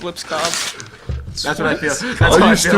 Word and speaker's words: Lipscomb: Lips Cobb. Cobb. So the M is The M silent. is not in the the B. alphabet. The M is silent. Not the B.